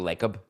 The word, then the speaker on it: Lacob: Joe Lacob? Lacob rhymes with Jacob. I've met the guy and I can't remember. Is it Lacob or Lacob? Lacob sounds French. It's Lacob.